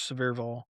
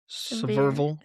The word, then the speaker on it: Sevierville: Yeah, it's overall, by the time you add Gatlinburg, Pigeon Forge, Sevierville, I probably said that wrong. Sevierville.